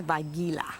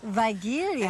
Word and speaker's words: Weigela: I've been told recently that it's Weigela. Weigelia. And I say Weigelia. I know you say Weigelia, and I say Weigela. Weigelia. It's whatever.